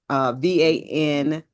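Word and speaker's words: van der Kolk: Oh, I can never pronounce his name. Colt Coates, Vander Coates, VanderKolk.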